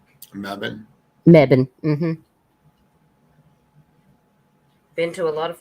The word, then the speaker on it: Mebane: elements high school and membane bubane is that how you say it my Bane it's um Mebane Mebane been to a lot